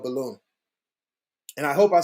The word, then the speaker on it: Bealum: Ooh, no, you're not pronouncing it right. Oh fuck! I hate when people do it. All right, please Bealum.